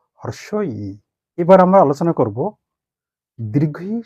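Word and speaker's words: হ্রস্ব ই: এর সঠিক উচ্চারণ হলো হর্ষই।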